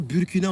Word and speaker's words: Burkina: le Burkina ça aussi on m'a dit de bien prononcer le bourg qui n'a au départ Burkina on dit bourg voilà le Burkina Faso